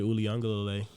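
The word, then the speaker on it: Uiagalelei: former Clemson product, DJ Uliungalele, if I'm pronouncing his name right. Dude, you know what's funny? That was actually really good pronunciation.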